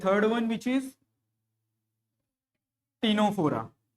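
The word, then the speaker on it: Ctenophora: Then the third one which is टीनोफोरा, टीनोफोरा, C silent, okay. दोनों में क्या है, सी साइलेंट है।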